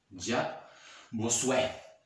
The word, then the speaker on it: Jacques Bossuet: escuchado, ese nombre, Jacques, ahí está, mira, así, Jacques Bossuet, así se pronuncia, Jacques Bossuet.